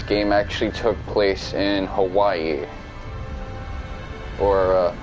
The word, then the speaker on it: Hawaii: So, a portion of the development of this game actually took place in Hawaii. Or, if I want to pronounce it correctly, it's Hawaii. Well, better, but, you know, still needs work.